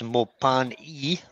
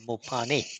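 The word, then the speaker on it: Mopane: It's Mopani with an E, but it can also be pronounced Mopani with an I. Either or works.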